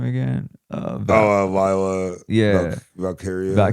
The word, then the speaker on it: Valkyria: Valkyria. Valkyria, there you go. I can't pronounce it and then Bailey.